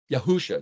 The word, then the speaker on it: Yeshua: Yahusha. Yeshua. Yahusha. Two different ways to say his name depending on your preference. The point is, it's probably more likely Yahusha, but nevertheless, Yahusha said, "I am the door."